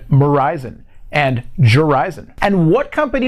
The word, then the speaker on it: Verizon: give you a hint their name rhymes with horizon and verizon and jurisan and what